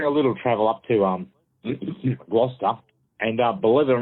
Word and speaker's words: Gloucester: It's an area on Gloucester. How do you say that? Gloucester. Gloucester?